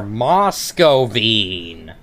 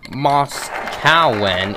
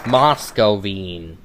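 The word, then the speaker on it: Moskowien: mine got poor moscovine and it's not mos calwen it's moscovine yeah i'm basically doing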